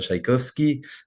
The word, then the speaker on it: Szajkowski: juives qui était Chacha Tchaïkovski. Moi, je le prononce comme le musicien Tchaïkovski.